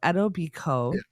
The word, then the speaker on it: Etobicoke: Ed, I'm gonna I looked up how to pronounce this, and I'm going to try not to screw it up. Okay. Etobicoke. Etobicoke. Sure. It looks like Etobicoke when, but I'm assuming it's Native American. So Etobicoke.